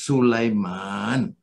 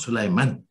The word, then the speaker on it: Sulayman: he said brother anwar it is sulaiman not sulaiman because the malays used to mention the name sulaiman were this short power man he always corrected me